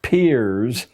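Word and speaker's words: Peirce: has produced he was it's pronounced peer but it's spelled as if it were Pierce Charles S Pierce a strange figure a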